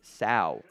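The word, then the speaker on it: Sow: competition jump coming needs some development he still like a little raw of just the feel of being an offensive guard so City so or sorry City South it rhymes with cow I have that in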